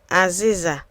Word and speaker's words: Azịza: Aziza.